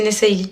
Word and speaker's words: Nessayli: Vous dites à tout le monde c'est Nessayli, ok? De toute façon, c'est le nom d'une marque, c'est moi qui décide comment ça se prononce.